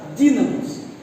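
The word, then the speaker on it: δύναμις: Aqui no Evangelho, segundo escreveu Lucas, poder vem do grego dunamis. Alguns dizem, alguns pronunciam dínamos.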